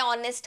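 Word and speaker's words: honest: के आगे एन लगेगा ऑनेस्ट भले ही स्पेलिंग एच से चालू होता है ऑनेस्ट का लेकिन साउंड कैसा आ रहा है ऑनेस्ट यस तो ऑनेस्ट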